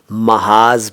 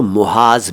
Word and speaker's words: महाज़: बस यह है कि उच्चारण का ख़ास ख्याल रखिएगा। महाज जैसा कि मैंने पहले कहा, मत कहिएगा महाज है ये, महाज। कुछ लोग इसको मुहाज भी कह देते हैं, लेकिन ये महाज है।